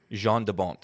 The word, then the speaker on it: Jan de Bont: This was directed in the brief time cinematographer Jan de Bont. Well, how'd you pronounce it? I believe it's Jean. Jean. Jean de Bont.